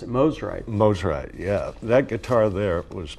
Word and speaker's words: Mosrite: Did I mispronounce it? Mosrite. Mosrite, yeah.